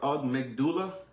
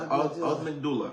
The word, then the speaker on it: amygdala: So I butchered the word earlier. It's called the amygdala. Okay. The amygdala, right?